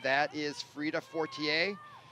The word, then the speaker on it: Fortier: That is Frida Fortier, or Fortier as they call it. If you're in America, if you're in France, it's Fortier.